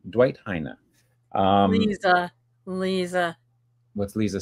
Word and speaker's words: Heine: One YouTube video said that you pronounce it Heine, which is sort of like a Dutch pronunciation, and I'm not quite sure if that's appropriate or not. Dwight Heine.